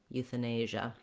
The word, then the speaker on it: euthanasia: We want the A sound, like in nay or say. To get that sound correct, you might find it helpful just to say that nay syllable. Usually in a word like say or day, it's easier for us to do that A sound. So trying nay, nasia, euthanasia.